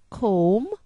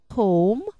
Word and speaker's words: comb: B is silent when it follows M, as in comb, limb, tomb. Comb, limb, tomb.